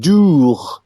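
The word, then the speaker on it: doogh: It's called dough. I can't quite pronounce it. It's that guttural sound at the end, but dough.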